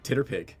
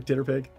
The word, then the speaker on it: TTRPG: My dear, it is pronounced Titterpig. We had this whole discussion in the first arc of the game in Storm Kings. Don't you remember Titterpig?